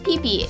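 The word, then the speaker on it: Phi Phi: Future people number five pee PE pronounced peeee is a set of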